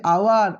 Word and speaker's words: hour: करवा उच्चारण कर देख पे ये एचटा सैलेंट आवर आवर भाव कौन हो उच्चारण केमी हो आवर आवर तो आवर जेहेतु